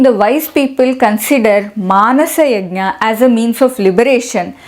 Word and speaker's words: Yajna: Before I go further, I am pronouncing this as Yajna.